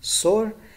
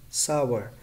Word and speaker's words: sour: is some sour okay that incorrect pronunciation is sore and correct pronunciation is sour grapes are sour sorna